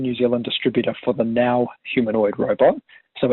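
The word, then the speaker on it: NAO: Zealand distributor for the now humanoid robot so it's spelled n-a-o but pronounced now and the now robots a French humanoid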